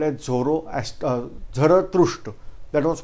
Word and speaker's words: Zarathustra: I am revising name, named as Zarathustra. But this Zarathustra word was not pronounced properly by Britishers. They are calling them as Zoroaster.